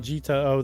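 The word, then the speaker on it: Jitao: they put a handy pronunciation next to it. That's why I'm saying it. Well, thanks a lot, Gita O.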